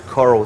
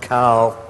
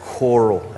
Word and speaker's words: Coral: By the way, my wife's name is Coral. It's not Carl, but I think here in the States you pronounce it coral, as in reef.